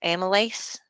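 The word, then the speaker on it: amylase: of uh lipas or uh let's see that's pronounced amales yeah Amal so what do they do well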